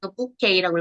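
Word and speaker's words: bouquet: Call with book 부케이라고 읽어야되더라고요. 부케이. 우리가 말하는 부케죠?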